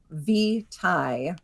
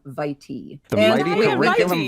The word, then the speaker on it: vitae: pronunciations are perfectly acceptable so curriculum V Thai is the first pronunciation that we give in our dictionary but we also give curriculum vitae we give several others also I love it